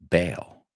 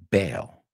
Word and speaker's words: Bale: Because if we know how to pronounce his name, then we know how to pronounce the second word. Gareth Bale. Christian Bale.